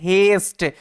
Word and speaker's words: haste: এ এর মত হচ্ছে কারণ কি যখনই এ লেটারের পরে এসটি থাকবে তারপরে সাইলেন্ট ই থাকবে তখনই এ লেটারের উচ্চারণটা এর মত হবে ওই কারণে এটার উচ্চারণটা হচ্ছে হেস্ট হেস্ট কথার অর্থ হচ্ছে